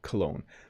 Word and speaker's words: cologne: And I'll pronounce that one more time, cologne.